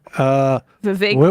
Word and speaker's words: Vivek: It's Vivexit or Vivek rhymes with heartbreak.